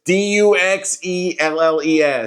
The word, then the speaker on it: Duxelles: It's Duxelles.